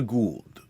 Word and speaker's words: Gould: out of and Karina Gould pronounced G like that weird sticky stuff that scientists always have in their labs and like short form